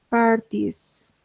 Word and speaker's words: parties: Parties. Si se dan cuenta, como que no pronuncio la E, ¿no? Directamente parties, ladies, babies, baby.